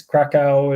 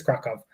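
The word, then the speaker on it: Kraków: It's Krakow is how we've always said it in the U.S., but it's Krakow. Is how they say it there.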